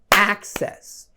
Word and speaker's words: access: Primeiro o verbo to access, a pronúncia dele, a tônica desse verbo é na primeira sílaba, então é access.